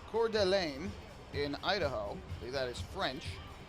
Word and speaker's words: Coeur d'Alene: in Idaho a town that I will probably mispronounced but it's Coeur d'Alene in Idaho that is French Paul Fletcher the